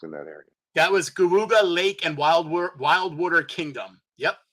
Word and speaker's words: Geauga: There is one that was, I'm going to probably pronounce this wrong, Guaga Lake. It's Geauga. Cayuga. Cayuga? Okay. Cayuga. Cayuga. Say it again.